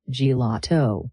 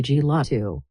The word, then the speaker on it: gelato: It starts like the word jelly, G, then the middle part gets all the stress and power, and the A sounds like ha, la. Finally, it ends with a simple to, gelato. If you stress the first part and say gelato, it sounds unnatural. Lean into that middle sound.